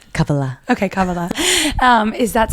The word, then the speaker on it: Kabbalah: And is Cababala something that you did I just say it right? Kabala.